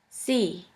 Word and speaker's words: sie: The next letter combination is IE, which is simply pronounced like E. For this letter combination, we have the example of the word see, which means you. I, Europa, sie.